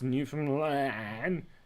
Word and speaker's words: Newfoundland: That's Newfoundland, as that's how you pronounce it.